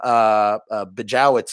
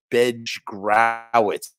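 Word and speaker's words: Bejgrowicz: However, I just digitized the Tom Bejowitz interview, Bejgrowitz. I was mispronouncing his name all these years.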